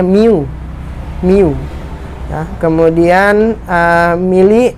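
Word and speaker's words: μ: Jadi mikro itu dituliskan dengan lambang seperti itu, seperti huruf U, itu dibacanya mu.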